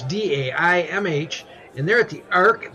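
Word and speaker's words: Daimh: band and I hope it's Dame it's pronounced it's Dai MH and they're at the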